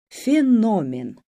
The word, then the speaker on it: феномен: месте нужно переписать слово феномен я проверила современное звучание должно быть с ударением в середине слова феномен Раневская переписала весь кусок